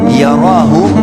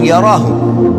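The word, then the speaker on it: يَرَهُ: Siapa yang buat seperti biji sawi dari kebaikan, yarahu, dia pasti akan diperlihatkan atau melihatnya. Wa may ya'mal mithqala dzarratin syarran yara. Kalau diberhentikan bacanya yarah, tapi kalau dibaca langsung yarahu.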